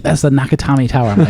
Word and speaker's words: Nakatomi: Nakatomi Yep.